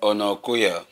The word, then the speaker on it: Onakoya: Pronounce as a Yoruba person. Pronounce him as a Yoruba person. You forget yourself. Onakoya.